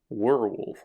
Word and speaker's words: werewolf: This is the Werewolf, which oddly enough, it's spelled werewolf, not like W-E-A-R, but W-E-R-E. Werewolf, like where are you going?